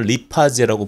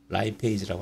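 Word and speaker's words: lipase: 리피드를 잘하는 효소죠 예제는 예전에는 리파제라고 부르기도 했어요 리파제 하지만 요즘은 영어식 발음을 따르는 표현을 쓰라고 권고에서 라이 페이지라고 할게요 서스퍼 라이페이지가 이노시톨 인지지를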